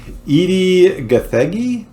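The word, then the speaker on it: Edi Gathegi: I hate that so but we have um Edie gathagi is that how you pronounce yeah yeah as Mr Perfect he played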